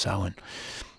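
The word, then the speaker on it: Samhain: s m h a i n but it's pronounced sa round all Hallows Eve a time of neighbors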